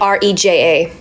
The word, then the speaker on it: Rexha: yeah my my surname my surname is r-e-x-h-a but the egg X and the H my bad is like a j so xha is so that's how you pronounce it so you basically pronounce it like r-e-j-a somebody wrote BB the